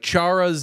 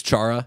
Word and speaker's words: Chara: Like, Chara's name, I think, actually is, like, Hara. Okay. But it's Chara. Everyone says Chara, and he's accepted.